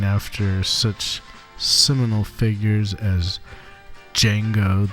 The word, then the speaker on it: Django: such seminal figures as Django the D is silent Reinhardt and Charlie Christian